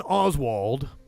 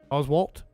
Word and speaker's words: Oswalt: comedian he's talking about patton oswald oswalt say it right apparently pat oswalt